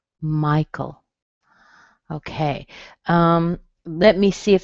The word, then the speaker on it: Michael: Michael, that's a good one. Okay, Michael. A lot of men named Michael. The AE in the end, it doesn't sound like anything. It sounds like a schwa. Michael.